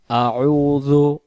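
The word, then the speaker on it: أعوذ: ভিডিওটি আমরা শুরু করি আউজুবিল্লাহি মিনাশ শাইতানির রাজিম আউজু আমরা যদি বলি আউজু তাহলে হামজা জবর আজা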